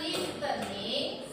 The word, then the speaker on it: listening: If you say word listening, huruf T-nya tidak boleh diucapkan ya. Jadi dia silent T. Ya, T-nya tidak terdengar, tidak terucap. Jadi kalau tulisannya listening, so you say listening, listening.